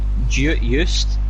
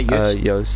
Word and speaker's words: Joost: Joost is how you pronounce it, yeah? Joost.